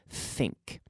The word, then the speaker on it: think: If your tongue is out, you're blowing the air, you're not activating your vocal cord here with this type of TH sound, okay?